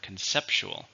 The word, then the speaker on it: conceptual: how many syllables can hear conceptual four with stress on the second syllable conceptual this project is